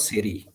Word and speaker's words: Tseiri: Indus, there is a place called सेरी, TSEIRI, T is silent, तो सेरी में ऑन